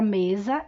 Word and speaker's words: mesa: Agora, o S, quando é falado, ele se transforma, ele é pronunciado com som de Z.